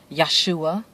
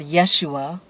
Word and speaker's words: Yahshua: do you call his son, why do you pronounce it Yahshua, and not Yeshua?